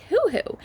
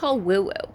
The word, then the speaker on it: woo-woo: this isn’t just like who-who, or woo-woo, I think I always say it wrong and say who-who and not woo-woo but anyways, this isn’t